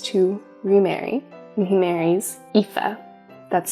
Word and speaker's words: Aoife: But he wants a nice family again, so he decides to remarry, and he marries Aoife. That's spelled A-O-I-F-E.